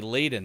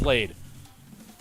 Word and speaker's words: laden: cargo vessels laid there i believe it's pronounced lad oh no play it google play it blade it's not it's a long a it is laid good thing it wasn't